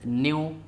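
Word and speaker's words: ν: equal to Lambda into Nu and this is new pronounced as this new and symbol for frequency so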